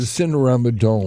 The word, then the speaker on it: Cinerama Dome: The Cinerama Dome.